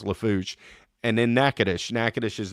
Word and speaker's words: Lafourche: See, I almost butchered it. Lafourche. It's Lafourche.